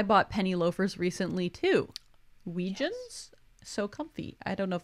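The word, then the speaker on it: Weejuns: who says I bought penny loafers recently too weijian so comfy I don't if that's the brand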